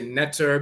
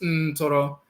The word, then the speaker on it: Ntoro: They'll say netter because they don't know how to pronounce it, but it's Ntoro.